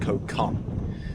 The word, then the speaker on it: Koh Kham: So we've had a real good chill out on the island of Koh Kham, which I think is actually pronounced Koh Kham, like K-H-A-M, Koh Kham.